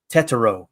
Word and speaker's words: Tetairoa: Tetairoa is how you say it.